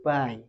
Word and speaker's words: buy: Bacanya bukan bui tapi buy.